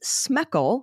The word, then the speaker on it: Smeckle: We have more patrons to thank, including insert turkey pun here, Jason Adams, Karen Murphy, Liz Smeckle, rhymes with freckle, Renee Miller, and Crow Woman.